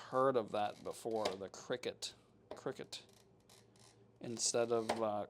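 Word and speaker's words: Cricut: Oh, it's pronounced cricket like the insect. Gotcha. Yeah, I have heard of that before. The cricket cricket instead of uh cry cut, but uh my brain insists on pronouncing it wrong, I guess.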